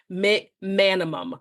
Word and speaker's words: McManimon: And so with his, I wanted to make sure that I said it correctly and you say it as it's pronounced, McManimon.